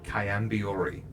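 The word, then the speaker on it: Chaiam'biori: It is Kayambiori. What's that I mean? certainly can spell it.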